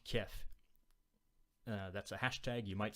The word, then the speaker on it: Kiev: I'm trying to pronounce them correctly. Kyiv versus Kiev, right?